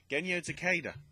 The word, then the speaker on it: Genyo Takeda: So, actually, before I get to the main topic, respects go out to, let me get the name correctly pronounced, if the thing loads, Genyo Takeda, who's been at Nintendo for 45 years, and